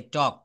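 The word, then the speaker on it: talk: যেমন টি এল কে আমরা কখনো টলক বলি না। এটাকে আমরা কি বলি? টি এল কে টক।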